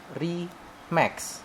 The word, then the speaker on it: Remax: bacanya Remix apa Remax sih? Remax. Saya tadi ngomongnya apa? Enggak, saya kan orang Indonesia nih. Oh. Udah bacanya mah Remax.